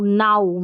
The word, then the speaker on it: now: अब अगर हमको नहीं पता रहे कि आउ भी पढ़ते हैं, ओ भी पढ़ते हैं OW को, तो हम ऐसे पढ़ देंगे, ये जो नाउ है इसको नो पढ़ देंगे, ठीक है। एक स्पेलिंग होती है KNOW, इसको नो पढ़ते हैं, ठीक है, NO इसको भी नो पढ़ते हैं, और NOW होता है, इसको नाउ पढ़ते हैं।